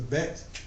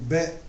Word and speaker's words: bet: With a Bagad kefat letter, as in bet with the dot, they were going to say to pronounce it as a B as in boy, and without it, it's going to be a V as in vine.